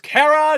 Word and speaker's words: Chara: Cara which is pronounced Cara Knotts are are you it's a play on the word character this game is a